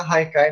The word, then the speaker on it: haikai: O haikai é uma palavra, então, de origem japonesa, né, se escreve com H, mas tem esse som de R, e ali muitas vezes